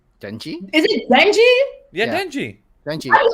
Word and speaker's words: Denji: Yeah, Denji.